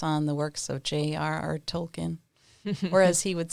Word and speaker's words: Tolkien: uh a course on the works of j.r.r tolkien whereas he would say tolkien that's the proper pronunciation of it so he's english too so